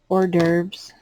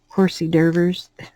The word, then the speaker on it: hors d'oeuvres: have different kind of hors d'oeuvres my son called him call him horsey derbers because he would try to pronounce it like they were spelled um my oldest son